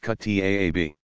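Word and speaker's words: kuttab: Younger children attended a Quran school called a kutab, pronounced kutaab.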